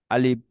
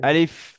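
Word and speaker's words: ألف: যেমন একটু দেখুন, আলিফ, আলিফ। এটা দুই ঠোঁট মিলে গিয়েছে, এটা হুম, উচ্চারণ প্রপারলি বিশুদ্ধ উচ্চারণ হয়নি। বলতে হয়। আলিফ।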